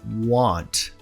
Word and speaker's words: want: O som do A em want não é nem o A que a gente tem no português, nem o O. Ele está no meio. Então o que você faz? Abre a boca como se fosse falar o A, não completamente, e pende pro O. Ó. Want. Want. Não o ante, mas sim want. Want.